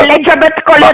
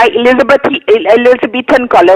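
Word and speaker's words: Elizabethan collar: एलिजाबेथ कॉलर नहीं होता, एलिजाबेथन कॉलर होता है, आपको तो प्रोनाउंस करना भी नहीं आता।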